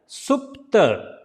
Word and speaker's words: Supta: Don't say Supta. There is one time A, right? So 2 time A is the big sound, ta. But here is one time, so that will be Supta. So say it Supta.